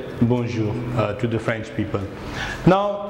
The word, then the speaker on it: bonjour: Bonjour. Bonjour. So I remind you, in French we have nasal sound like M or N. We normally pronounce in our nasal area.